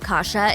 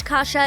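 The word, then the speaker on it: kasza: The Polish version of kasha is kasha, which is pronounced the same but spelled with a z instead of an h.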